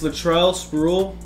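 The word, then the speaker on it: Latrell Sprewell: where is he I'm sorry to upgrade this Latrell spruill that's how you say his name he's got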